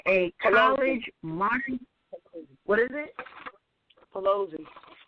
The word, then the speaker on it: Pelosi: modern European daughter by the name of Nancy Peloi. I might be pronouncing her her accolation wrong or her name wrong. And a college what is it? Pelosi. Pelosi. Pelosi.